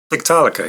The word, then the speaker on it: Tiktaalika: He's from several different projects, Haken, and his own solo project, which is Tiktaalika. Is that right? Did I say it right? Tiktaalika, yeah.